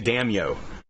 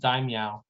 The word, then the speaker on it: Daimyo: keep wanting to say damio and i'm like i know that's not what it what it is but i actually think it's pronounced daimyo is what i've been told dime like meow yeah yeah dime yeah